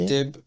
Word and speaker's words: Mouteb: Mouteb, Héritier, Corneille.